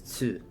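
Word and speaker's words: つ: The second exception is tsu, which adds an s sound and is pronounced with less emphasis on the t.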